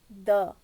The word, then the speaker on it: the: okay one more thing in articles th e da is pronounced both ways though and D okay not D you pronounce th EP before Oh now starting with a sound of a wall that is a e i o u okay then you pronounce that D be Apple okay whereas the Sun when the word starts with the sound of a consonant th e before that is pronounced as duh whereas if the word